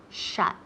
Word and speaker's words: shut: Se escribe S-H-U-T, pero se pronuncia esa U como si fuera una A, ok, to shut.